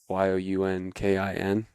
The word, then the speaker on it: Younkin: My IG handle is just Nathan_Younkin, YOUNKIN. Okay. It's just pronounced just like Duncan, but with a Y.